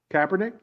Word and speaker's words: Kaepernick: cap how do you say his name cabernet kaepernick yes was it right for him to kneel